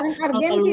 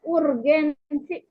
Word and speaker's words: urgensi: Pancasila sebagai dasar negara argensi Tapi bacanya urgensi Oh urgensi iya bahasa Indonesia ya oke